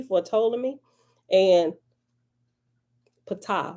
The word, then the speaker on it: Ptolemy: a i c or ptolemy some people say patola me but the p is silent ptolemy or the ptolem